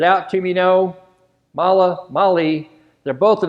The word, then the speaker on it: MAHLE: I found out that mala is a German name it's spelled mah le and Germans tend to favor the mala pronunciation well Americans tend to like the Molly which is what I